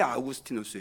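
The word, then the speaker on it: Augustinus: 라고 알려져 있는 아우구스티누스 원래 이 사람 분명히 아우구스티누스 예요 야구 스틴 어스를 이제 미국식 발음으로 하면 얻었으니 라고 하게 되는 거죠 이 아우구스티누스가 빛과 관련해서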